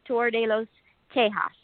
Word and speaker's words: Tour de los Tejas: And yes, your pronunciation was a little more French rather than Tex-Mex. It's actually Tour de los Tejas.